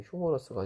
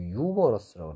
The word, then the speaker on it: humorous: 자, 그 다음에 이거 휴머러스라고 써놨는데, 휴머러스가 아니고 유머러스라고 그래요. 유머러스. 유머러스. H가 소리가 안 나는데, 묵음이에요. 뮤트예요. 뮤트. 유머러스.